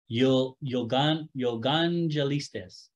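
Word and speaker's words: εὐαγγελιστής: It's kind of, it's wild to pronounce, but it's Yogangelistes.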